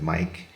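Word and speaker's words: Meic: Um and uh Mike is spelled M E I C. Um good Welsh Welsh spelling there.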